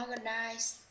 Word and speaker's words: organize: Dạ là organize. Để em đọc organize sao nó ngang hè với em. Organize và nhấn vô thứ mấy? Organize hả thầy? Đúng rồi, organize nhắn dưới thứ Âm mấy? Âm nhất.